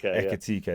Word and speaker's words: Ekitike: But I just think when you look at Ekitike, I say it wrong every time. Ekitike. Ekitike, that's it.